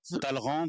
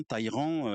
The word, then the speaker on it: Talleyrand: Alors oui parce que la prononciation la prononciation Taleran Taleran Taïan les les différentes prononciations se se retrouvent donc nous présentons appar avance nos excuses au puristes nous resterons sur Taleran ou Taleran la prononciation la plus classique.